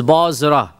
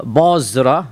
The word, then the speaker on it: Bosra: of Damascus this is not Bas this is bosra right there was no City Bas when the process in M Basra was made by the Muslim armies after they conquered Iraq right any reference of uh bosra which is how it's pronounced in the S